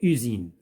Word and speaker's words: usine: Donc S se prononce Z. Donc usine.